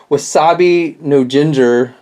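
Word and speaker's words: Wasabi No-Ginger: two figures in the first wave uh was wasabi no Jinger um I believe is how you pronounce his name and and then goo tomago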